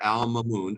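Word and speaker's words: al-Ma'mun: did Al Mamon is how you say that Al Mamon obtain Greek manuscripts so this is a Muslim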